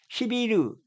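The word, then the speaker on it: Сибирь: 그러니까 중국은 눈이 안 와야 되니까 여기 따뜻한 데 있어야 되고, 근데 이 시베리아를 봤더니 이렇게 발음을 한답니다. 시비르, 영어로만 시베리아.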